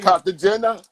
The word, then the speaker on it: Cartagena: Cartagena?